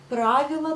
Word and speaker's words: правила: Pourquoi l'accent sur le A? Parce que c'est le pluriel, donc правила. Si c'était le singulier, ça sera правило. Mais vous prononcerez toujours le A, правило. On dit правила дорожного движения.